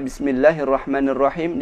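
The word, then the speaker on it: بسم الله الرحمن الرحيم: terjadi yang ketiga kalinya yaitu membaca Mad Thobi'i lebih dari dua harokat seperti membaca Bismillahirrohmanirrohim dibacanya Bismillahirrohmanirrohim yang benar Bismillahirrohmanirrohim hitungan dua harokat sangat cepat sekali 12 Bismillahirrohmanirrohim Jangan dibaca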